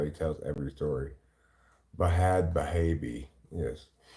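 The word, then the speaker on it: Bhad Bhabie: he tells every story bahad bahabi yes if she's gonna spell it with an H I'm gonna I'm G to respect her decision and pronounce it with an AG she was in a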